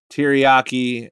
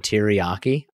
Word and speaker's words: teriyaki: Mustard, guacamole, Caesar dressing, sugar, olive oil, mayonnaise, teriyaki, and sweet and sour sauce.